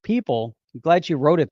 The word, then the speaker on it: Pyypl: See, it looks like Paypal or people, pronounced people.